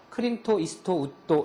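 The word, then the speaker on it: クリント・イーストウッド: 크린토 이스트우드를 일본식으로 발음하면 크린토 이스토 우토 이렇게 발음한다.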